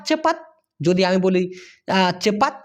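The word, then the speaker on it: cepat: ভুম শেষ চলে গেল সেই ক্ষেত্রে লাজু আর চেপাত চেপাত যদি আমি বলি চেপাত সি ই পি এ টি এটা যদি দুইবার উচ্চারণ করেন তাহলে উচ্চারণ হবে চেপ পাত আবার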